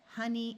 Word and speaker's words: honey: In these three words, the O is going to schwa and sound like a short U. So we have money, honey, and monkey.